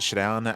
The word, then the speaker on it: ShaDoWn: discuss interviews done with Shadown and with DNS. Uh first I should also emphasize it's not Shadon, it's Shadon. I need to uh like Shadow with an N at the end.